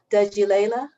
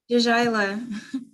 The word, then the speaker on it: Djaila: I want to invite, I'm going to pronounce the name phonetically, so it's not going to be like, but she can do it for you, like without breaking it up. Dudgy Layla. Did I do? Djaila. Djaila. Oh, too many syllables.